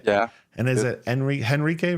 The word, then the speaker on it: Henrique: it Henrique, right? Do you say the H or no H? No H, but it's Enrique?